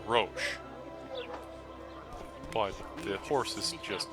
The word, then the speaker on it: Roche: book series, into English, where the man's name, who's called Roach, should actually be Roche, but the horse is just called Roach.